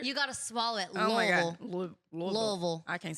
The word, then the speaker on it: Louisville: yeah I said Louisville Louisville is what I used to say and then all my friends from Kentucky all my one friend was like no you're saying it wrong and I was like what is it she's like Lille and I was like